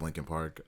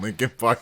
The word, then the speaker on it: Linkin Park: Devin typed in Linkin Park. It's spelled like Lincoln, like Abe Lincoln.